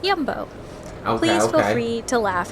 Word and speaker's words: Jumbo: okay goodbye this is yumbo which I learned is not in fact pronounced jumbo but yumbo please feel free to